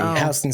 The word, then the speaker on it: Houston: Well, I mean the city is Houston, but H would be the pronunciation. Yeah, in New York City, Hston Street.